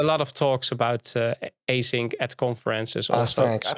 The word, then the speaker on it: Acinq: of talks about uh async at conferences awesome i prefer the french pronunciation i sunk i sang yeah okay cool man